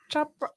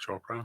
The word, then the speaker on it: Chopra: change enough people's minds that's so wonderful deac choa right is that how do you say it deac Chopra choa thank you I wanted to say shopin